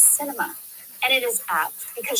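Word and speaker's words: Sinema: in it down right the arizona senator's name is pronounced cinema and it is apt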